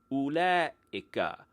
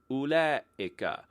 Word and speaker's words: أولئك: Its counterpart for those is ula'ika. Say it again, ula'ika, which is difficult to pronounce and also not at all spelled phonetically.